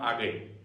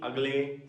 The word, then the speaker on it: Agale: Agale. Some call me Agle, some call it as Agale. You can pronounce it as the way you want, just don't call me ugly.